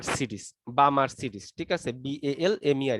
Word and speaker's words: Balmer: যদি এটা হয় তাহলে আমরা সেটাকে বলবো হচ্ছে বামার সিরিজ। বামার সিরিজ, ঠিক আছে, BALMER, এখানে এলটা উচ্চারণ না, বামার সিরিজ বলা হয়।